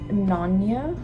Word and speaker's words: Nänie: Another piece that we're playing is, I think it's pronounced nänie. It looks like nani, but I think it's nänie, as in the Chronicles of Nänie.